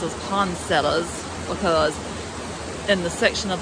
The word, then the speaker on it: poinsettias: I'm from they pronounce it as Pond sellers but then if you listen to other people talk they pronounce it as poinsettias which if you look at the spellings that is probably the correct pronunciation but where I'm from